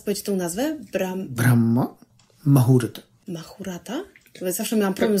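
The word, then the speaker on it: Brahma Muhurta: A jeżeli mówimy o dokładnej medytacji, to powinna być podczas Brahma Mahurta. Możesz jeszcze raz powiedzieć tą nazwę? Brahma Mahurta. Mahurata? Zawsze miałam problem z wymową tego.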